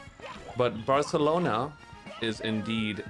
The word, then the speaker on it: Barcelona: Um, actually, we only pronounce the C's and Z's with the lisp. So, Espa is actually still just Espa, but Barcelona is indeed Barcelona because it's spelled with a C.